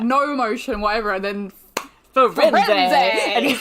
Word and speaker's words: Firenze: But how would you pronounce the main centaur's name? Firenze. Yep, me too. But except for Stephen Fry calls him Firenze.